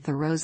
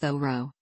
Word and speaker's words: Thoreau: famous bronson alcott and throws on each road that Thoreau is pronounced like the word throw Edward Waldo Emerson wrote that the name should be pronounced though Roe with the H sounded